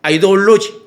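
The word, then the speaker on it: ideology: 아이돌로지. 그러니까 우리는 왜냐하면 이데올로기 하면 한국식도 썼지만 이제 한 번씩 내가 그 영어 이제 원래 발음대로도 알아야 되니까 이제 아이돌로지의 격돌이거든요.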